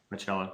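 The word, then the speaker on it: Bachalo: And how do you pronounce Chris Bacalo's name? Bacalo.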